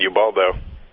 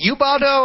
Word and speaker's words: Ubaldo: I wish it was for a better pitcher than Ubaldo. Is it Ubaldo or Ubaldo?